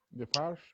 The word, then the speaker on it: Defarge: ¿Cómo se pronuncia la señora Defoe? Defarge. Sí. De Farce.